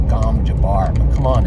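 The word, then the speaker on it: gom jabbar: willing to put in once you see the gom jabber test i think they pronounce it gom jabar but come on it's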